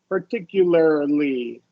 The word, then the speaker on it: particularly: ASI yeah yeah anytime anytime you get R followed by l y adverb like particularly right that's always a mouthful for people so just um most of the time this is going to be awah R right like particular and regular and you're gonna so articulate the r then make the ly regularly particularly sorry articulate what L